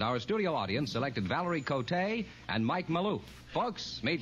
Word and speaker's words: Valerie Cote: Valerie Cote, is that the way you That's pronounce right.